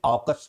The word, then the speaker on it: AUKUS: और आज का डीप कॉन्सेप्ट टॉक है मेरे प्यारे बच्चों, ऑकस, या हिंदी में ऑकस हम उच्चारण करते हैं, ऑकस।